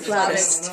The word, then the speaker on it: flautist: Arzoo's wrist is sore because she's a flutist. Is that how you say it? Flutist or flautist? Flautist.